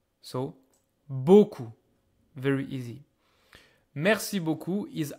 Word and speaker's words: beaucoup: Mercy B Mercy B don't be fooled by the final P you don't hear it this one a u